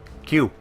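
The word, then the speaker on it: queue: And then I realized it's just Q.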